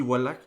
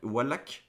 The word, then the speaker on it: Wallach: le beau clint eli wallach wallach je crois que c'est comme ça que ça se prononce et lee van cleef